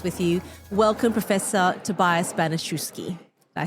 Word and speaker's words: Banaschewski: Welcome Professor Tobias Banoski.